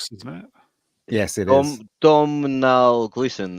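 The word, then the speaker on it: Domhnall: shitty General Haw isn't it yes it is domal Glen it's actually pronounced Donald like Donald without the D oh thank you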